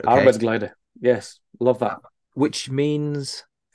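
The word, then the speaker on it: arbeidsglede: it's really difficult for me to pronounce this, but it's Arbeidsglider, right? Okay. Arbeidsglider, yes, love that.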